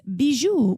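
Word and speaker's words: Bijoux Indiscrets: on B's you and discredits calm and I'll spell it for you because it is difficult if you're not French its Bijou which is jewelry in French which is bij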